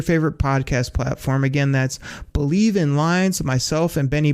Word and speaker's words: BLEAV: That's called Believe, and that's spelled BLEAV in Lions, Believe in Lions, with myself and Lions legendary safety, Benny Blades.